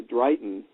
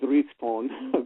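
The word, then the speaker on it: dryhten: like Dragon well yeah it's spelled d r y g h t o n and so it's one of those old you know probably they pronounced it drione but um the Revelation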